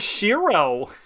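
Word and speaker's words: Shirow: the W it wouldn't it would still be pronounced as shirro why the W um okay yeah musir wrote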